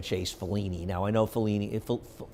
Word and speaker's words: Fellini: Now, I know Fellini, how do you pronounce it?